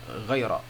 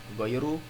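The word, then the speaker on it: غَيْرَ: Jadi dibacanya ghaira, bukan ghairu, bukan ghairi.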